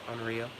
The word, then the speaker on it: Amarillo: Amarillo. It's got double L, so I pronounce it rolled like that.